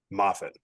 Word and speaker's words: Moffett: How do I pronounce it? Moffett.